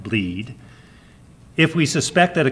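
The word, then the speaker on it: blead: Perl 5 repository is called bleed spelled ble ad pronounced bleed if we suspect that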